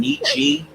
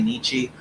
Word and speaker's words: Nietzsche: I pronounced the name Nitschke for years, which is American slang. Like people do say Nietzsche, but the proper pronunciation that people hammer.